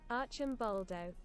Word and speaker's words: Arcimboldo: How pronounce Arcimboldo? Arcimboldo. Arcimboldo. Fair enough.